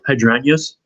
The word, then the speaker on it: hydrangeas: Hyd hydrangeas.